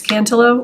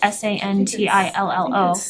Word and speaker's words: Santillo: then I would make a motion to appoint Christian Santillo to our communication advisory committee. Second, Thank you. And just, I think for the record, it's Cantillo, or is it Santillo?